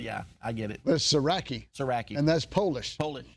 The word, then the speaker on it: Sieracki: Smith we don't there it's srai for those that are wondering yeah no no no